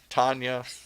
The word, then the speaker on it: Tonya: Tonya, Tanya, whatever we call you. Tonya It's White. Tonya. But it's spelled Tonya. Yes.